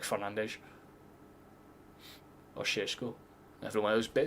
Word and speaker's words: Fernandes: Everyone thinks it's Fernandez and then it's like Fernandes.